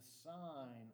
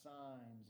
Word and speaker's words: sine: Now I have x sines of 36, it's pronounced sine, it's not pronounced sin.